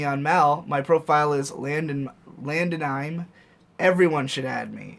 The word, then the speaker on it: Landonime: My profile is Landonime. Everyone should add me. It's pronounced like anime at the end. Oh, Landonime. So it's Landon, I-M-E.